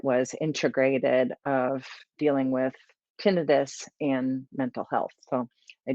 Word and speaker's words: tinnitus: You may already have noticed that I'm saying it is tinnitus.